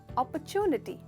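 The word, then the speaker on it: opportunity: चलिए देखते हैं इसकी करेक्ट प्रोनाउंसिएशन क्या है। अपॉर्चुनिटी, तो ये अपॉर्चुनिटी नहीं है, ये है अपॉर्चुनिटी।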